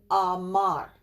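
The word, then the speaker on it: אמר: This is a stop, a shva, Ra. You might hear a hint of a sound there, but think of it mostly as a stop.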